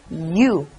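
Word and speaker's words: ㅠ: I'm going to use one more to U, then it becomes you.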